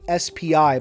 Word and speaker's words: SPI: infiltration or spi armor grim does confirm their pronunciation to be spi by the way so oh well the